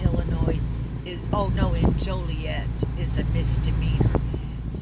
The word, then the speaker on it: Joliet: is oh no in joliet is a misdemeanor some people will say joliet and that's not how it's pronounced it's joliet i know the pronunciation